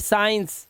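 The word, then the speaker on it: science: सी साइलेंट साइंस, सी साइलेंट seizures, ठीक है, सी साइलेंट discipline, सी साइलेंट muscles, सी साइलेंट, सीन।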